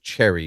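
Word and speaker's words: Cherryh: CJ Cherry, but Cherry is spelled with like Cherry with an H at the end.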